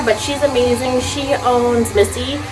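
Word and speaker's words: Misi: one in there but she's amazing she owns Missy it's uh spelled m i s i so people think it's pronounced mey um it's an amazing Italian restaurant in Brooklyn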